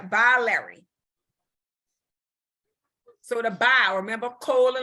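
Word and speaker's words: biliary: a louder by louder b-i-l-i-a-r-y I can't pronounce it yeah by Larry so to buy remember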